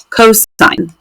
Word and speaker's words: cos: it just si N and then cosine we just write cos but we say that cosine and then tangent same